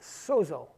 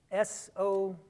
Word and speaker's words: sozo: The word is sozo, S-O-Z-O, sozo. I know I'm not pronouncing it like a Greek scholar would, but like I told you, I'm not a Greek scholar.